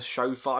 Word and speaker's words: shofar: Crud drips from the shofar. I probably said that wrong. Where is it? Crud drips from the shofar.